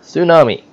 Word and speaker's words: tsunami: I know it's spelled with a T, but it's pronounced tsunami.